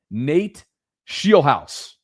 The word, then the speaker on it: Scheelhaase: Nate Scheelhaase. Believe me, I got the pronunciation right, Sarah.